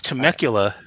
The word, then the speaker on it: Temecula: tim akula no i i've never oh it's temecula um it's not far from me okay now i live in riverside county that's why yeah temecula okay i'm pretty bad with pronunciations man i